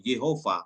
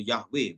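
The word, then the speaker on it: יהוה: Jadi YHWH ini atau Yehova atau Yahweh bacanya.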